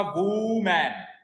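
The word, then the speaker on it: women: देखो, इसको जब हमें हिंदी में लिखूंगा तो ये होगा वूमैन, वूमैन। और इसका ये तो है इसका ना उच्चारण, और इसका उच्चारण पता है क्या होता है? विमेन, नॉट वू, विमेन।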